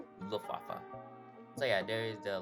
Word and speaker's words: Luftwaffe: Of course, this is operated by the German Air Force, and I did say Luftwaffe, but I was wrong on that one, and it's actually pronounced Luftwaffe.